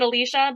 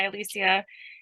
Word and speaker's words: Alicia: comfortable talking about me I do pronounce it Alicia but I went by Alicia in different Circles of my family even so we're good